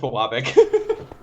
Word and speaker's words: Biwabik: It's pronounced Bawabik. Bawabik, Close enough. Biwabik, same difference.